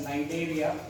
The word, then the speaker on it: Cnidaria: Then phylum Coelotrata, which is also called as Cnidaria. C is silent there.